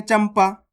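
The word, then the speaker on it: चंपा: अब देखो यहां पर चा के ऊप अनुस्वार की मात्रा है उसके बाद वाला अक्षर कौन सा है पा तो यह रहा पा तो अपन आधा मा का उच्चारण कर देंगे चमपा य तो करना है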